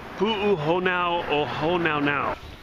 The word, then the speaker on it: Pu'uhonua O Honaunau: It's Pu'uhonua O Honaunau.